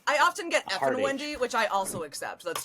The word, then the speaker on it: Ifn Whendy: Is it Liffin? Laughin? So that Luffin? letter is in a capital I. Oh, Ifn Whendy.